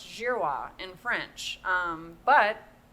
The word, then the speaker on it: Girouard: Behind closed doors, my grandmother always said, is Jirwa. I mean, our name is pronounced Jirrowa in French.